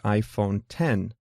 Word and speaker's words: iPhone X: this month called the iPhone 10 pronounced 10 but written with the Roman numeral X most of the features